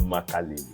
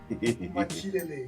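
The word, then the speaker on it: Makélélé: You That guy- help me to mention that your friend you people are talking about that Cloud Makalele. Makilele. That's how it's been pronounced.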